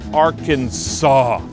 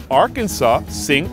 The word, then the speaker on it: Arkansas: Arkan-SAH was the French pronunciation of a Native American group, and that part of the country was French until Americans bought it in 1803.